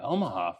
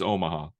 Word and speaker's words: Omaha: I've been pronouncing it Omaha for like years. No, it's Omaha.